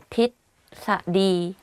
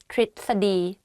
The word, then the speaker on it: ทฤษฎี: tell you a secret even I don't pronounce this word properly when I talk because it's very difficult to pronounce it like correctly in daily life I just say ทฤษฎี ทฤษฎี but it's wrong though so the correct way of pronouncing this is ทฤษฎี ประพฤติ behave ประพฤติ behave